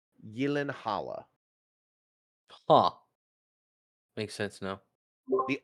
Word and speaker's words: Gyllenhaal: Yeah, even Jake Gyllenhaal. That's another one people mispronounce. Oh, really? He's Swedish. It's it's either Swedish or Danish. It's Gyllenhaal.